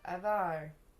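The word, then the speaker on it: ajvar: it there's a video it says how to pronounce a javar real life example is that what hear avar there we go avar avar relish okay I can say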